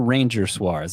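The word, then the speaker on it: Ranger Suárez: Yes, I would, although I don't see it in your notes here, but I'm thinking, is it Ronher Suarez or Ranger Suarez? It's spelled like Ranger.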